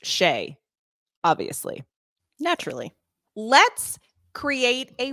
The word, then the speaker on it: Skjei: all night worried about this wondering okay Brady Shay friend he has a complicated last name to spell it is spelled SK ji pronounced sheay obviously naturally let's create a way to remember